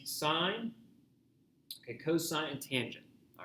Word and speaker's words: cos: full word etc okay same thing here um cosine and then tangent so just say the full pronunciation of it i still hear people saying costs and tan here my my logic behind it